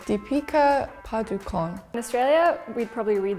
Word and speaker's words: Deepika Padukone: In the USA, I think we would say like Deepika Padukone. In England, we would probably say Deepika Padukone.